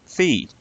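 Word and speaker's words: phi: is how you could get feed or five if you prefer that pronounciation and here we go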